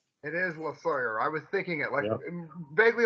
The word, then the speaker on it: Losawyer: Losawyer. It is Losawyer. I was thinking it, vaguely like the Rush song. All right, You are listening to NEOPA Radio, 102.5 FM. Once again, Losawyer from Voodoo Moonshine.